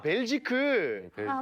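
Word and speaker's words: Belgique: 그래서 수도가 어디냐라고 물어봐가지고 저 브뤼셀이라고 했더니 벨지크 라고 해가지고 이제 그게 이제 불어 발음으로 벨기에라고 말하면 벨지크고 네덜란드로 하면 벨기에인 건데 오.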